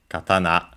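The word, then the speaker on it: 刀: uh single edged ones the Japanese word katana accented on The last syllable.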